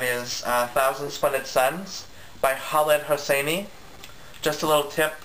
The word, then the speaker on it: Khaled: And that is, Thousand Splendid Suns by Khaled Hosseini. Just a little tip, you don't say his name, you don't pronounce the K in his name, it's just Khaled, just for your information.